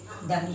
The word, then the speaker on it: दीन: और ये जो बड़ी है वो खींच कर बोला जाता है, यानी इसमें थोड़ा ज़्यादा समय लगता है, जैसे दामे बड़ी ई न दीन, इसको खींचा जाएगा, इस दी को खींचा जाएगा, दिन।